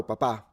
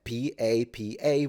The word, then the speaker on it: papà: But the stress is at the end, P-A-P-A with an accent. But she always says, ciao papa, and she stresses it at the beginning. And it's funny because that means Pope. So she's literally saying, hello, Pope, every time.